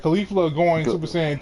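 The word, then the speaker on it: Caulifla: Her name's like Khalifa though.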